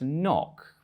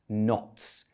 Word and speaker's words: noc: It looks like it might be pronounced knock, but it's actually pronounced nots. That's because Polish doesn't have the same spelling to sound relationship as English.